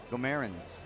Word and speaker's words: Guimarães: On the other side, it is Denguilel, and it is, I've been told it's pronounced Guimarães.